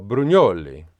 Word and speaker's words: Brugnoli: When I saw his name, I thought it's very Italian, LUCA BRUGNOLI. But of course they are British, so they just pronounce it Brugnoli.